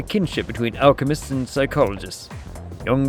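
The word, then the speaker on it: Jung: Young believed, by the way, that's how it's pronounced.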